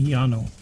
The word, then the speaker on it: Llano: It would be Llano. Yeah, Llano. I was going to say the double L has always been pronounced as a Y as far as I know.